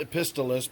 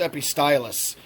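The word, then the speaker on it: Epistylis: I'm sorry I always want to call it a pistol list but it's actually pronounced epi stylus every stylus almost looks like the way you'd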